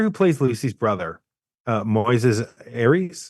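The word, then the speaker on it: Moisés Arias: plays Lucy's brother uh Moyes Aries is that how you pronounce it yeah Moises Aries he um he has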